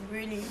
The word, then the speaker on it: Brûlili: Excusez-moi, ça se prononce Brûlili.